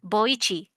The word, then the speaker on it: Boichi: Boichi, Boichi, Boichi. Okay. Boichi.